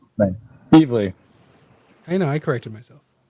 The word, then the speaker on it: Evely: All right, and with this, the Golden Burrito Award for Best Mini goes to Helen of Windhorn, Tom King, and Bilquis Everly. Evely. Nice. Evely.